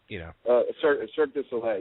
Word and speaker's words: Cirque du Soleil: Say the company for me again, 'cause I know I'll say it wrong, because I say it, Cirque du Soleil. You can just call it Cirque, though.